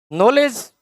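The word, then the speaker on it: knowledge: तो यह KJo silent है। नॉलेज नॉलेज मतलब आप अपना फैक्ट याद करिए।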